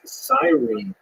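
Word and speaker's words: Cyrene: looked it up and I heard it pronounced as sirene in English uh in Greek it would have been something like Kur so I'm probably gonna say Kur and I'll probably be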